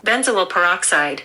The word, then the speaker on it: benzoyl peroxide: How to pronounce this? Benzoyl peroxide.